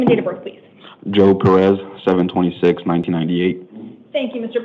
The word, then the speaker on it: Joab: it spelled correctly because it sounded like it was pronounced differently than it's spelled. Yeah, it was spelled wrong previously to it, so it was a J-A-O-B. I have it spelled as J-O-A-B. Is that the proper spelling? Yeah, they just corrected it up there. All right. I want to make sure we get it right in the court record, so it sounds like it's right. But it's just pronounced Joe.